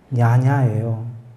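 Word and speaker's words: viññāṇa: 본래는 빨리어로는 윈냐냐예요. 저 V가 위 발음이 나는 거거든요.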